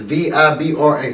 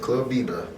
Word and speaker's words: Vibra: It's Vibra. That's how they pronounce it. Club Vibra.